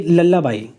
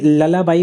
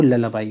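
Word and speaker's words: lullaby: दूसरा ये लल्लाबाई, ये ललाबाई बोलते हैं आप, ये उच्चारण में कुछ लोग लुल्लाबाई भी बोल देते हैं, पर इसका जो सही प्रोनाउंसिएशन है वो ललाबाई है, ठीक है।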